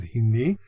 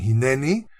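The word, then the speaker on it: הִנְנִי: By the way, I pronounce it Hini. You'll probably hear a lot of people saying Hineni. That is another way of pronouncing this, but it's a grammatical error that developed in Spain about 700-800 years ago and was solidified by Rabbi David Kimchi. This actually should be pronounced Hini, according to the Masorite.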